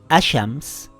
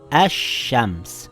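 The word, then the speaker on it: الشمس: letter now it reads ash shams and not al shams the sheen is doubled i didn't read ashams i read ash shams with two sheens if there is a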